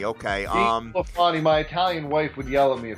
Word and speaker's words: DeSclafani: Cincinnati, how do you pronounce this guy's name? It's Anthony DeSclafani. DeSclafani, okay. DeSclafani, my Italian wife would yell at me if I didn't get that right.